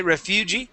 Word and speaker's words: refugee: yeah so that in instead of uh being refugee okay Refugee it would be Refugee try that Refugee good